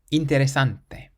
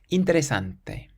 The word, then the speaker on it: interesante: This next word ends in a vowel. Interesante. Interesante. So we stress the syllable before last, and it means interesting. Interesante.